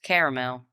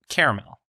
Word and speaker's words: caramel: this country apparently prod pronounces it with two syllables completely ignoring the second a and saying caramel caramel